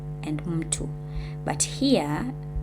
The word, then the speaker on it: mtu: So M in the first section, it's a syllable, and in these 2 sections, it's not a syllable, right?